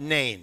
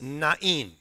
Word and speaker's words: Nain: So afterward, he went to a town called Nain. And by the way, that's not how it's pronounced. It's Nain.